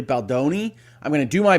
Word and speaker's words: Baldoni: get that pronunciation wrong I've been told by a number of people that have watched my videos that when I say Balon it's really Boni I'm going to do